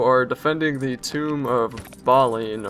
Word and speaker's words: Balin: defending the tomb of baline or I just gly say it like baline but it's like Balin that's the American pronunciation I don't know anyway